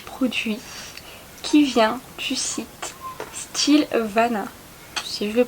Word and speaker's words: Stylevana: suis quelques petits produits qui vient du site style vana si je le prononce comme il faut et je vais vous